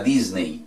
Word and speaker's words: Disney: Lo mismo si vamos a ir a Disney. No vamos a ir a Disney, vamos a ir a Disney World. Disney World. Disney.